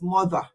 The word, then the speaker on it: mother: No, it's not. It's mother. And I want the Queen's English. It's not trying to be who you are not, but it's the proper way to say mother. You have to bite your tongue. If you don't bite your tongue when you say mother, you have not said it right.